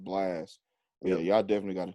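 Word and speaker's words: Blxst: b l x s t i think it's pronounced blast yeah y'all definitely got to check that out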